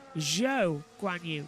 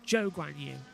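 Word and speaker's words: Zhou Guanyu: And like with Zhou Guan Yu as well, it's Zhou Guan Yu, not Zhou Guan Yu.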